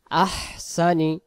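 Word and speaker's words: أَحْسَنِ: তাড়াতাড়ি হবে উচ্চারণাল তিন আলিফ আহসানি আহসানি আহসানি কিছুক্ষণ আগে আমি এই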